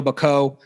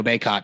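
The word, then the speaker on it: Bacot: daron sharp um rondo bako i guess i guess armando baycott i believe is how he pronounces it um walker kessler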